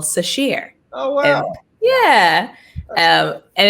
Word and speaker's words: Sasheer: so hard to say so this is sheer it's pronounced the same way yes oh great same